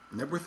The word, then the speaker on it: Knebworth: in stevenage stevenage um nworth is not a town by the way nworth is I don't know what that is I don't know why the K is silent I know virtually I'd